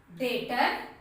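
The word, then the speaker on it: debtor: Relation रिश्ता या नाता, डेटर, यहाँ पर बी साइलेंट है ना, डेटर मीन्स कर्जदार या ऋणी।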